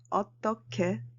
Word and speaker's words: 어떻게: Take a look at 어떻게. When who meets 그, you should pronounce it as 크.